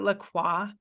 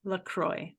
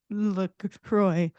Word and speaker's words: LaCroix: you're out there and you pronounce it Lacroix it is not Lacroix you can even go to the website and it states on the website how to pronounce it it is Lacroix you're welcome I'm done thank you for coming to my TED Talk message from Amy to PSA from Amy don't be stupid it's Lucroy oh God try again